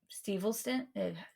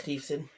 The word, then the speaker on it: Steveson: His last big match was against um Gabe Stevelson? Yeah, I can't say his name correctly ever. was Steveson.